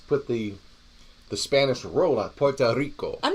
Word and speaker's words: Puerto Rico: And in other news, there was a lot of stuff going on in Puerto Rico. Well, that's how you're supposed to pronounce it.